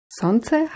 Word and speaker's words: солнце: Sonze heißt auf Russisch Sonne. Das Besondere an diesem Wort, es wird mit einem L geschrieben. S-O-L-N-C-E. Das L wird aber nicht ausgesprochen. Sonze.